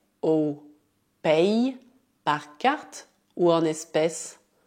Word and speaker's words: payes: Por outro lado, se escrever como Y, deve dizer tu payes. Tu payes é discreto, mas dá para ouvir o som I.